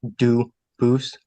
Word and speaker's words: Dubus: I know a family with the same exact spelling in America, and they do pronounce it Dubus, but you said you pronounce it Dubus, Dubus? as the original Dubus, as the original French.